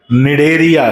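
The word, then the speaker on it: Cnidaria: और नाम भी है डेरिया सी साइलेंट बेटा सी निडे या मत बोल देना सी साइलेंट है और एन आई डी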